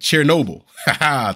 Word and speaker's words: Chernobyl: That's how to say it. Chernobyl. Thank you, Ruin. I like how you put that. Chernobyl. I like Chernobyl. Chernobyl. Like Red Bull.